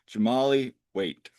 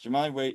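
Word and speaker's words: Jahmali Waite: Um so and uh and and just a real correction, I mispronounced the goalkeeper for Tampa. It's Jamali Wait.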